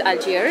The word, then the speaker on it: Algiers: हाउ डू you pronounce the name of this capital city in English? In English it's अल्जीर्स।